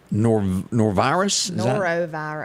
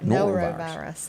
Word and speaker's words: norovirus: How do you pronounce this word right here? Norovirus? Norovirus.